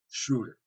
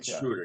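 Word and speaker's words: Schröder: And he said, Schroeder. No, it's Schroeder, yes.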